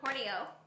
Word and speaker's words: Horney Ewe: from Horney Ewe. It's spelled Horney Ewe, but it's apparently pronounced Horney Ewe. It's the Scottish way.